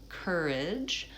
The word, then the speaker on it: courage: All right, so for courage, first syllable stress, and it's basically the k sound and an vowel same as in person or bird. So courage, and then the second syllable is unstressed. So I personally say more of a schwa, courage, or courage. It's an unstressed vowel, vowel I, courage. And the j is j like in judge, or ge like in edge.